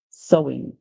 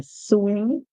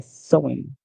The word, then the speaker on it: sewing: S the song but the e w is pronounced as o so yes o so and in SE SE sewing in some place you may hear suing um yes andw makes